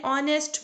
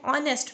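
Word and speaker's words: honest: एक साइलेंट हो गए सैंपल देखें एंड ऑनेस्ट मैन यहां लिखा हुआ एक है लेकिन वे यहां पर साइलेंट है हमने ओर से इसको पढ़ना स्टार्ट किया है ऐड को साइलेंट रखा है एंड ऑनेस्ट मैन तुझ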